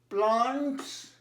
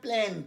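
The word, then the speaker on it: plant: যেমন ধরো প্লান্টস depend on water. আচ্ছা দেখো, আবার বলছি, প্লান্টস ডিপেন্ড অন ওয়াটার। দেখো ব্রিটিশ প্রনাউন্সিয়েশনে প্লান্টস হয়, প্লান্ট, আর আমেরিকান প্রনাউন্সিয়েশনে প্ল্যান্ট হয়।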